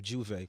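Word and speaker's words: J'ouvert: Yeah, Juve is just the appetizer. Pronounce that for me again. Juve. Juve? Yeah, like I Juve. thought it was Juve, like to open.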